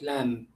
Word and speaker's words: lamb: And lamb, the B sound is not pronounced, it is silent, lamb.